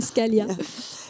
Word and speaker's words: Scaglia: Si on prononce pas le G, Scalia.